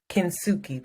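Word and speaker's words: kintsugi: me what is it tsuki tsuki kinsuki that's how i was told to pronounce it because i asked many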